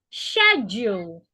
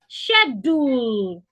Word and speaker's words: schedule: please what is the difference between the four pronunciation of schedule I already said it please listen again schedule schedule schedule schedule so said we need more time